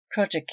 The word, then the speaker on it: crossjack: little ahead of her crossjack yard pronounced project yard the lower yard on